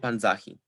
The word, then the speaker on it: panzahi: default penultimate stress thus if we attach he to panza we assign stress to the penultimate syllable within the inflected verb thus we get panzahi when we attach he